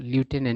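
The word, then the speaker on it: lieutenant: यानी कि शासन पर थ्रू द लेफ्टिनेंट इसको लेफ्टनंट भी पढ़ा जाता है और लूटने भी पढ़ा जाता है है ना दोनों प्रोन सही होता है एक ब्रिटिश उच्चारण होता है और एक अमेरिकन उच्चारण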